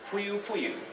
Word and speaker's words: Poiupoiu: I'm from Huntsville, I'm a geek, and I pronounce it Poiupoiu.